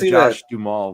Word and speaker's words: Josh Duhamel: I got that Josh Duhamel vibe.